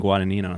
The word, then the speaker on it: Guadagnino: like a hundred thousand views of some woman pronouncing guada Nino so Wow but thank you guys for coming